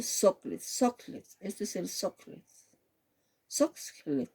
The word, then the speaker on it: Soxhlet: Socklet, así. Se escribe SOXHLET, ¿ya?